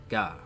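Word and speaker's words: が: You pronounce this as Ga, right?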